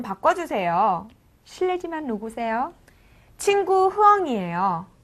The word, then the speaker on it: 실례지만: 실내지만은 실례지만 이렇게 씁니다. 하지만은 실내지만 실레지만 이렇게 발음합니다. 네. 두 개의 차이가 구별이 안되실 수도 있겠는데요. 실리지만이라고 쓰고 실내지만 이렇게 읽는다는 거 잊지 마시기 바랍니다.